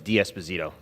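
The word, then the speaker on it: D'Esposito: you uh Mr Nadler the correct pronunciation of my last name is DS bazito thank you so the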